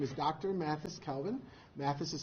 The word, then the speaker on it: Mathis: Mathis Calvin. Mathis is spelled M-A-T-H-I-S, Calvin, C-A-L-V-I-N III.